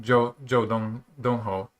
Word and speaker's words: Zhou Donghou: uh player with white joe dongho i think that's how his name is pronounced um i'm sort of